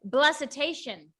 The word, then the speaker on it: Blessitation: to say it okay say hesitation now say blessed now say blessitation okay i had to